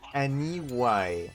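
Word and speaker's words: Aniwye: Shark says Aniwai. Okay, that's how you pronounce the weird one.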